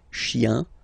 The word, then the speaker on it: chiens: Remember, chien, singular form, chien, same pronunciation, but you put this S, okay? Final S, not pronounced.